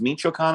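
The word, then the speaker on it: Michoacán: not immediately clear but the state of michoacan is pronounced michoacan i believe uh yeah the country's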